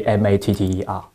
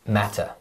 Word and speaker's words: matter: So Richard, how do you say M-A-T-T-E-R? Matter. And? Matter.